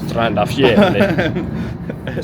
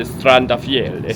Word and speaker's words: Strandafjell: Strandafjell. Sounds more Norwegian if you say Strandafjell.